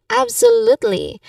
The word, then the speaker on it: absolutely: The pronunciation wise um the tip here is that you stress on the third syllable. The third syllable is l absolutely absolutely. So you stress on that you say it like that.